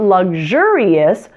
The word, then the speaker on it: luxurious: isn't it luxury luxurious the word luxury stresses the first syllable luxury but luxurious stresses the second syllable luxurious luxury luxurious now let's try